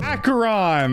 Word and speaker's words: Acheron: Acheron. That's how you say it. I just love mispronouncing names because I get corrected and you guys leave comments and it helps me in the algorithm.